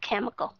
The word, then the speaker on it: chemical: thể những cái chữ mà các bạn sẽ đọc nó là âm âm k, sound giống như là trong cái chữ care hay là chemical.